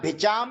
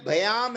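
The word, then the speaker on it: भ्याम्: अब इनके उच्चारण में जो अपने को ध्यान रखना है, गसी यहाँ भिचाम लिखा हुआ है तो भिचाम नहीं है, भयाम है।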